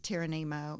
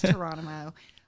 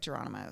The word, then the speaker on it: Touronimo: okay so I know some people think it's tyrano it's not it's torono um pronounced like torono so came up with that started putting all